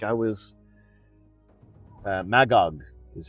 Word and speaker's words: Magog: Like I was Magog is how you say it. Magog.